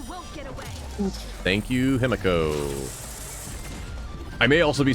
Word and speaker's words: Himeko: I may also be saying that wrong because that name I've heard pronounced both Himiko and Himiko. In the game, they are not consistent. It is Himeko, no. like it's ME, so it's a meh sound instead of MI me.